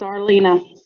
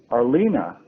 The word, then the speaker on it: Arlena: pronunciation of your name it's arlena arlena arlena huh okay all right arlene i'll try to remember that i would have left out that second e and just said you